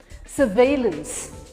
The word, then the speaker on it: surveillance: इसमें second half पे है। सर्वेलेंस, that's the right way of saying it. The area is under सर्वेलेंस। सर्वेलेंस, valence पे emphasis है।